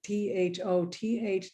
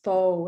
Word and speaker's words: Thoth: this deck called the t-h-o-t-h deck it's supposed to be pronounced foe as we just we found out recently we were calling it the thoth deck i apologize for my